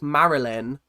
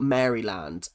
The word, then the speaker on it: Maryland: Um, it's pronounced like Marilyn, not Maryland.